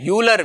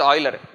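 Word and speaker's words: Euler: have heard his name uler we call his name in a very different way in India but his name is pronounced as Oiler one of the greatest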